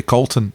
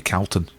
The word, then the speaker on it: Calton: Yeah, Edinburgh people say Colton.